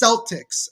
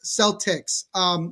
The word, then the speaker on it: Celtics: It's in the NBA, Al, it's Celtics. Celtics.